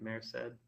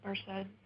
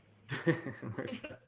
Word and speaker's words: Merced: Am I pronouncing that right? Mared. Mared. Not quite. It's Merced. Merced.